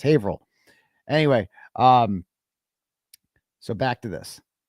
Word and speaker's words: Haverhill: Haverhill, it's pronounced Haverhill.